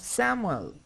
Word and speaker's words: Samuel: Look at the pronunciation of Samuel.